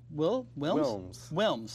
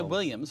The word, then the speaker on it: Wilms: Wilms. I'm about to say Williams, but Wilms. Wilms. W-I-L-M-S, Wilms.